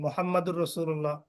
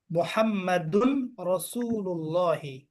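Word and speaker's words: مُحَمَّدٌ رَسُولُ اللَّهِ: মুহাম্মাদুর রাসূলুল্লাহ, মুহাম্মাদুন রাসূলুল্লাহি, মুহাম্মাদুন। আপনি যদি বলেন মুহাম্মাদুর রাসূলুল্লাহ, তখন রসুলের শুরুতে আলিফ লাম চলে আসে, আর ইজাফাতের শুরুতে তো আলিফ লাম আনা যাবে না।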